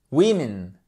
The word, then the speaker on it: women: One woman, two women. OK? One woman, two women. Faites très attention. Double I court.